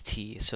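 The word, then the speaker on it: ϯⲥⲱ: Again, remember that the letter T is in fact pronounced as T. So in this case, it's T-so, T-so.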